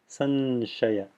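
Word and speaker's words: संशय: In this case, it's sh, as in Shiva, teeth fully closed together. So it's sanshaya, sanshaya.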